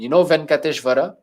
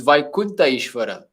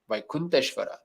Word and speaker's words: Venkateshwara: Venkateshwara is actually a wrong pronunciation. Although everybody says Venkateshwara, it's Vaikunta Ishvara.